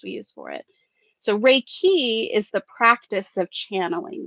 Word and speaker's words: Reiki: I pronounce it Reiki.